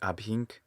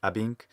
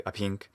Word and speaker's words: ab hinc: I would say that he makes the ab hinc too heavy of his first syllable. He says, sounds more like abhink instead of abink. I just make that H silent when I speak normally. But you could add, you could say abhink, but the first syllable ought to be short. It's also stressed on the hink, but it sounds fine.